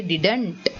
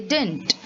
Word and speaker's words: didn't: how you pronounce this you do not say didn't what do you say you say dint so dint means did